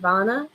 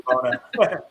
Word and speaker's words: Vona: It's bona. It's bona vana. He gets my partner gets that all the time. It's actually Vona.